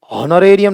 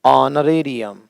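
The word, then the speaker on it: honorarium: होता है एयर का वैसा होता है इसका उच्चारण है एयर। होनर नहीं, ओना, ओ। हॉनरेबल नहीं, ऑनरेबल, ऑन। हॉनरेरी नहीं, ऑनरेरी। हॉनोरेरियम नहीं, ऑनरेरियम।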